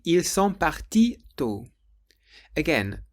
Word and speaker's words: partis: would say ils sont partis tôt. Again, the word parti sounds the same, but this time it has an S on the end.